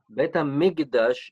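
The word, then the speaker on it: בית המקדש: What's the difference between the base hamikdash, base midrash? How do you say it? Bet HaMikdash, it's the temple, right?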